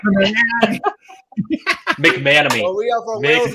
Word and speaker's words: McManamy: Sorry, I have difficulty to pronounce it. Almost So, got it right. McManamy. McManamy.